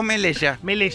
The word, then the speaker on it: Melella: ¿Melella o Melella?